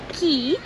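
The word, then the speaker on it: Caye: we went to belize it's spelled c-a-y-e and pronounces key and in the bahamas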